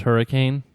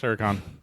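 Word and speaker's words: Huracán: that's a Lamborghini it's a Lamborghini Huracan it's pronounced hurricane no no it's Huracan like I had that well I didn't have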